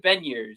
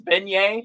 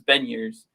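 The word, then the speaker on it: Beniers: went to elite prospects so it is matthew ben years that was him saying it so if anybody wants to chat or uh chirp right now and say it's it's beignet like the you know tasty treat which one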